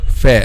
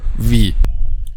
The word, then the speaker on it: Fā’: Okay, so this is how we pronounce letter fa, not letter v.